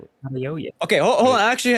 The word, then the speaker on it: Adeoye: I can't pronounce Adeoye. Adeoye.